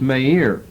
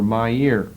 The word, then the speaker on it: Meir: And then his pupil, or his disciple, carried it on, and his name was Meir, or Meir. People pronounce it today, I think, M-E-I-R.